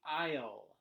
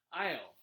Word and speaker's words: aisle: as you can see the a and the s are actually silent it's pronounced i'll i'll so yeah some